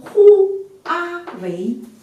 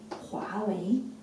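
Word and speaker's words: 华为: 汉字它只有 2 个拼音，不能拼成呼阿为，呼阿为不可以的，因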